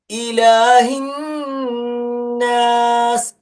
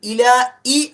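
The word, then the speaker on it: إِلَٰهِ: Okay, ഇനി അടുത്തത് ഇലാഹിന്നാസ്. ഇലാഹി, ഇലാഹി, ഇലാ ഇ അല്ല, ഇലാ ഇ എന്നല്ല, ഹി, ഹി, ഹ, ഹി, ആ ഉച്ചാരണമാണ്.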